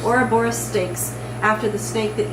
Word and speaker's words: Ouroboros: Yeah, Ouroboros. Ouroboros steaks, after the snake that eats itself.